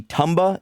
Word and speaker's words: Tumba: His name could be Tumba. It is spelled T-U-M-B-A, but he lived on a beach where I pictured everyone having Jamaican accents, so I called him Toomba.